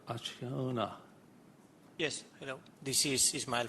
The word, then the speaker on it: Acciona: Aciano? I butchered it. Aciona.